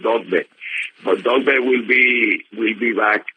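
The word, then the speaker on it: Dogboe: Dogbe will be Dogbe, pronounced Dogbe.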